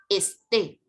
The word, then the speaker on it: esté: es un verbo donde su pronunciación ya más grave no es éste sino que es éste tiene pronunciación aguda y las agudas que